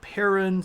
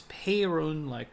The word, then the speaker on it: Perun: Sometimes you'll hear this Perun, sometimes it's Perun, kind of like almost that E is an A.